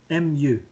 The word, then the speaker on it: mu: MU. M. Okay. U. Mu. Sounds funny, but that's how you say it.